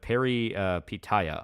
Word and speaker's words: Peripeteia: lot bigger now but it was Indie uh pronounced Perry Paya oh it is very polish little bit I